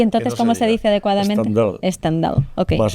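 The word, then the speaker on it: Stendhal: El síndrome mal dicho de Stendal, que me ha explicado Javier que Javier que no se dice así.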